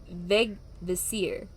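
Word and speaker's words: Vegvísir: lose their way and the specific symbol you pronounce it veg visir vegvisir so but in like english when you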